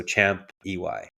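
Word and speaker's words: Champey: I always pronounce things wrong, but SEMUC Champay. So Champ EY.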